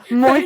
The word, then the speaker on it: muy: That's your pronunciation, bi. you're But yeah. saying mi caliente or something. Muy caliente.